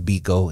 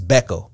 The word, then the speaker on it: Bekoe: name derived from steve biko and that original because spelled b-i-k-o mine's american knives which is b-e-k-o-e and they pronounce it differently in africa in africa i believe it's becca here we say biko so you